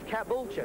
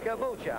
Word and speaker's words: Caboolture: This is Caboolture. Is that the correct pronunciation? Caboolture, home of Lakeside.